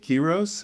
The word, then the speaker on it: Quiroz: My guest is Elizabeth Quiroz. Am I pronouncing that correctly?